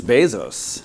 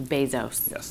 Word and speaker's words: Bezos: most successful people in the world and it's Bezos it is and in fact I'm doing all